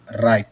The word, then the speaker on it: write: Oh ya, bacanya bukan write, bukan ada w-nya ya. Cuma write aja. Jadi write.